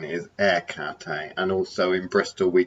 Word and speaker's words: Hecate: akata because i say ekate a lot of people will say hecate with the h but i've heard that the proper greek way of saying is air cathay and also in bristol